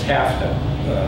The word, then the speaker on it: TAFTA: t-tip the petite tip they refer to it as tafta which of course rhymes with NAFTA and makes us think